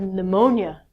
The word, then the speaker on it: pneumonia: thought i had diarrhea but i actually had pneumonia I couldn't say this word when I as